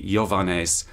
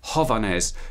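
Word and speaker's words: Յովհաննէս: And similarly for the name for John, Johannes, so the classical pronunciation would be Johannes, and the traditional one would be Hovannes, because in post-classical Armenian, word initial yod changed into an H.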